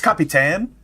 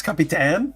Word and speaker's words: capitan: says soy it's capy tan it's capy tan I just googled I just uh did a pronunciation guide is capy tan capan Capan.